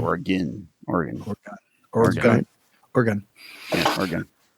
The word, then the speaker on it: Oregon: What's the proper pronunciation of Oregon? You said it there, Oregon. Yeah. Whereas people that aren't from there, they go Oregon. Oregon. Yeah, Yeah. it's Oregon.